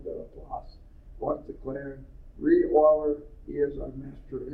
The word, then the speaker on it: Euler: It looks like he's Euler, but it's pronounced Euler.